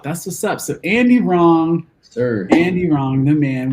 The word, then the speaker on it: Rong: Instant handle is just A and then Andy Rong. And Rong is spelled R-O-N-G. R-O-N-G, yes. Absolutely. Wrong without the W.